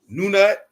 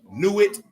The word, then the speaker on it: Nut: The pronunciation of the ancient Egypt is uncertain because vowels were long omitted from its writing. Although her name includes the unpronounced determinative hieroglyph for sky, her name Nut also itself means sky, usually transcribed as Nut, but also sometimes appears in older sources as Nunut, Nanette, Nuit, or Not.